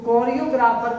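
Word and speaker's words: choreographer: तो कोरियोग्राफर को हम देखिए कोरियो पढ़ रहे हैं, CH को पढ़ रहे हैं कोरियो, तो इसलिए ये क्या है, ये एक यूनानी वर्ड है।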